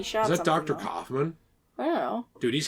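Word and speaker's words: Kaufmann: Kaufman? I don't know. Dude, he's handsome. He looks like Ronald Reagan. It's pronounced Kaufman.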